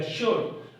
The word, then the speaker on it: should: सो कैन, कुड, may, might, शुड को ज्यादातर लोग शुड पढ़ते हैं, ठीक हो गया? तो एल जो है वो लिखा जाएगा पढ़ा नहीं जाएगा, शुड।